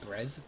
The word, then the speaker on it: Brev: Wait, it's the way you pronounce Brev, it goes Brev, B-R-E-V.